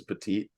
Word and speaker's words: Pettis: over and over again his last name is is is Pettis so pronounce as petite and then has has